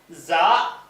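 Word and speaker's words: ز: அடுத்தது இந்த ஜான்னா ஜட் சொல்றோம்ல இங்கிலீஷ்ல ஜட் உச்சரிப்பு இருக்குல அதுக்கு இதை பயன்படுத்துவாங்க. இந்த ஜா என் ங்கிற எழுத்து எதுக்கு வரும்ன்டு கேட்டா, தமிழ்ல இந்த ஜாக்கு தகுந்த மாதிரி சொல்லு கிடையாது. இங்கிலீஷ்ல இருக்கும். ஜட் போட்டு எழுதுவாங்களா, அந்த இடத்துல எல்லாம், அதுக்கு பதிலா என்ன செய்யலாம்? இந்த ஜாவ போட்டுக்கிறணும். அடுத்தது வந்து சீன்.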